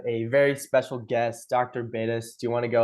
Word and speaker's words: Beidas: Bettis. Do you want to go ahead and introduce yourself? Yeah. Hi everyone. My name is Rhymes with Glad.